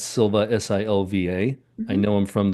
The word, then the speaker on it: Silva: And it's Silva, Silva. I know I'm from the New England area, so it's not Silver, and I just forgot how to say the R.